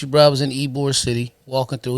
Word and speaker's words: Ybor: I was in Ybor City, walking through. It's spelled Ybor, but it's pronounced Ybor City.